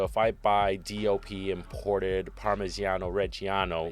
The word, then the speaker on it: Parmigiano Reggiano: Fantastic pronunciation. Parmigiano Reggiano.